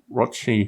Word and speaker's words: Rothschild: Saving a bunch of money is part of that, and ending the lead pile painting with Rothschild, whose name's rhymes with Rochford, which hopefully will happen by February next year or thereabouts.